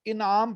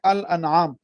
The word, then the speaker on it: الانعام: ہے وہ اس کو بعض لوگ انعام پڑھ دیتے ہیں، یہ اس کا درست تلفظ نہیں ہے الانعام، کیونکہ انشاءاللہ جب 8ویں